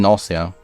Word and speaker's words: nausea: naughty NAIA NAIA NAIA NAIA NAIA yeah actually nausea yeah yeah it's nausea nausea it doesn't sound